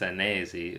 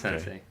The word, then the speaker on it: Senesi: myself Sensei, but my last name is Senesi, which is an Italian last name. I think Mm. it's actually pronounced Senesi, is what sometimes Italians tell me that I'm butchering my own last name. So yeah, it's not Okay. Sensei.